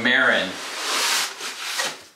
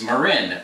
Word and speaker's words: Marin: on the graphics marin a lot of people pronounce marin incorrectly they call it marin and this company's not marin it's marin the birthplace of mountain biking this has an msrp of 2569.